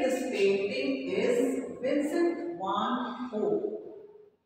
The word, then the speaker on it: Gogh: It was painted in 1889 and the person who has painted this painting is Vincent van Gogh. This is pronounced as Ho.